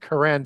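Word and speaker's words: קרן: So like in Hebrew, you get, as I said earlier, Q-E-R-E-N pronounced with a K sound, Keren for horn.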